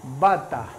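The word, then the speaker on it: バター: Tomalo del inglés. Butter-san. Bata. Bata. Bata. Porque la E no la pueden pronunciar.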